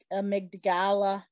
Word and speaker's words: amygdala: Please heal the brain, Lord, the amygdala. How do you pronounce it? Amygdala.